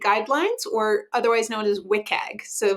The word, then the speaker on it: WCAG: or otherwise known as wiag so when you see that wcag abbreviation wiag is like the cool in the know way to pronounce that got it okay okay